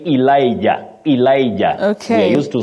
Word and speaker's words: Elijah: Ecclesiastes Ecclesiastes and finally Victor mandila you say Elijah Elijah we used to saying Elijah but that